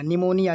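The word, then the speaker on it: pneumonia: मतलब कि ये एन के पहले, देखिए यहाँ पे एन के पहले पी आया हुआ है ये, ठीक है। तो ये साइलेंट है, यानी हमें पने नहीं पढ़ना है। तो ये हो जाएगा NEU, नी, MOMONIA, निया, निमोनिया।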